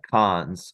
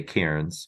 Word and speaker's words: Cairns: Yeah, kind of like cons, or it's spelled Cairns, and you don't say Cairns, but you say con. Okay.